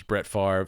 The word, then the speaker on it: Brett Favre: Yeah, and he was Ben Stiller's idea for this was the Brett, to mispronounce it, because anyone that knows football knows it's Brett Favre.